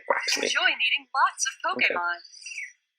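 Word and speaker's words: Quaxly: Quaxley, so they don't say Quale, they say Quaxley.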